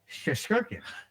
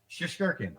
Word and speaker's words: Shesterkin: It's Russian, so I'll give you the first 3 letters, and then I will pronounce it slowly for you. yeah. SHE, and it's Shesterkin.